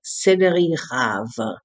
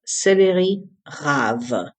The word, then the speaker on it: céleri rave: Our next wonder food is the céleri rave. In English, it's called celery root. It's pronounced céleri rave.